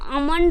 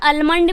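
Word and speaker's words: almond: यहां पर क्या है अगर आप इसे उ करते हो तो अमंड भी बोल सकते हो क्या है अ मंड अमंड भी बोल सकते हैं और अल मंड भी आप बोल सकते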